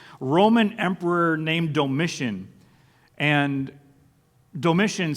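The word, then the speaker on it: Domitian: Emperor named doiss and doiss sounds like the word Dominate and that was kind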